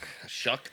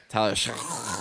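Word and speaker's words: Shough: Shook. Tyler Shook. I hate that. Like the way they spell it.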